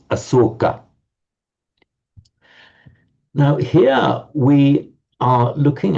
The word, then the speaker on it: Asoka: And that's the same word that in Pali is pronounced as Asoka.